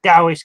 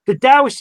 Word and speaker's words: Taoist: It's one of my teachers would say it's with a D with a silent or a little T. So it's Taoist. Tao. Okay. Most people, I tend to say Taoist because it's more simpler.